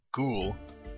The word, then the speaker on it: ghoul: Gold Room to go no ghoul is the proper pronunciation you may spend your